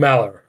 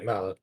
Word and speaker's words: Malor: Malor. Okay, Malor. Think like the word mallard, like the duck, but without the D. Okay, Malor.